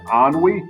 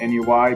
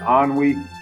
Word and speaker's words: ennui: It's pronounced ennui, not N-U-I, but ennui.